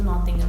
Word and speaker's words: Nottingham: Tulisannya Nottingham, tapi kita spellingnya itu, pronounce-nya itu Nottingham.